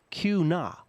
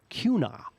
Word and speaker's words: Kuna: Actually, Kuna, pronounce Kuna. Kuna.